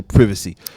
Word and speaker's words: privacy: newer the younger generations the need for privacy or as the British say privacy privacy I love I live